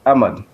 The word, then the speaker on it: Ahmad: your surname uh correctly it's ammon thank you very much desiree yeah it's ahmad thank you thanks for joining us silent h what does this victory